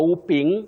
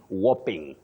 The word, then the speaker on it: whopping: an amount of money please avoid saying a whooping 7 billion shillings a whooping no you say whing those who are keen or can understand what we call the phonetic transcription can look at this and know you say whopping a whopping 7 billion